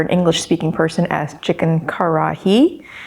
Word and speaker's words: karahi: kodai and i know it's not an easy word to pronounce because of the the r bit or the rabbit in the word karai karahi when you pay attention